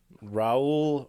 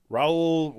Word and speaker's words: Raoul: a man by the name schindler no swedish raul i'm probably pronouncing it wrong that's what i saw it